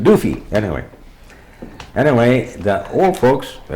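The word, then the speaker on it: Duvie: One of the names was Doofy, D-U-S, I guess it was D-U-V-I-E or something like that, but you pronounced it Doofy.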